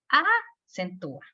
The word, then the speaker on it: acentúa: Dice, acentúame, no me lo puedes quitar porque, si se fijan, no puedo decir, acentúa. no le puedo dar la fuerza a la A, porque se oye exagerado.